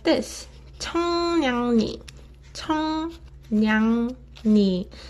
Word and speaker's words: 청량리: 청량리, 청량리. Ni. So when 이응 받침 is followed by 리을 consonant, 리을 sound gets replaced with 니은 sound.